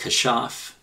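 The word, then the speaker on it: כשף: It's from Hebrew word number 3784, pronounced kashaf.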